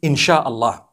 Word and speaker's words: inshallah: Sia Allah, the S-Y-A, they pronounce the S-Y the way we pronounce S-H. So they can write it how they want for as long as when people read it, they read it insha'Allah.